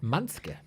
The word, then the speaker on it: Mansuke: I think it's a silent U.